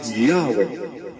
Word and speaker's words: Yahweh: the christian church testify that the name was pronounced yahwe Aton ang pahayag sa Encyclopedia judaica vol 7